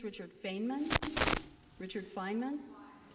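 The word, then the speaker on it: Feynman: Well, we were talking before and I brought up a scientist uh, and I'm going to mispronounce his name. I think it's Richard Feainman. Richard Fineman. Fineman.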